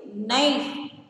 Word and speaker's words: knife: First one is knife, K-N-I-F-E. The letter K is silent, so you circle the letter K.